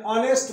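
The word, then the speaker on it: honest: जैसे an umbrella, an apple, an ऑनेस्ट मैन। ऑनेस्ट word H से आरंभ है लेकिन एच साइलेंट है। ओ वो ऑनेस्ट, ओ वोवेल साउंड है इसलिए एन ऑनेस्ट।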